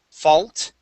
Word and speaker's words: fault: to fault right here this will be an a sound fall fault fault fault there you go nice